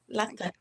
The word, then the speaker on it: Latta: Hi, Latta, is that how you say it? Latta? Yes, that's it. Yeah, Latta.